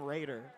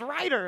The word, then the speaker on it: Ryder: Ryder I mean I back when Ryder first followed I called him Raider and I'm just like I'm I am I'm used to like Japanese pronunciation so I see like Ray as an evangeli and I'm like yeah you know that makes sense Raider but but it's Ryder and I'm like what